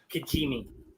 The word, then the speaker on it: Kijimi: Kijimi. Yes, it is. Not an easy one to spell, but you nailed the pronunciation.